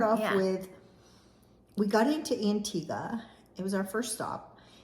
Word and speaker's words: Antigua: in St John's Inga I always called it intigua because you know how good I am with um pronunciations yes no but it is Antiga Antiga so what did you